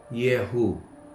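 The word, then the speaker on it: Jehú: para que puedan anotarlo jeú que se pronuncia en el hebreo yehu porque la J no es parte del abecedario hebreo significa ya es él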